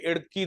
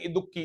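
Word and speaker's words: Idukki: हां साइलेंट प आपके इड़की डैम इड़की डैम जैसे इंग्लिश में नॉर्थ इंडियन वाले कहते इडुक्की इट इज नॉट इडुक्की इ इड़की इडुक्की डैम जो है आईडी यू डबल के आई इडुक्की डैम पेरियार नदी पर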